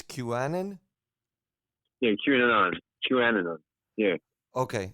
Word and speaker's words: QAnon: because I don't even know how do you pronounce it hello that's Q it's qanan yeah qon qan yeah okay so what Q